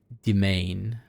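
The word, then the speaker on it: demesne: Old French, pronounced as domain.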